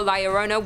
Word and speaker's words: La Llorona: Hailing from Hispanic folklore, La Llorona, which I'm pronouncing correctly now after you guys yelled at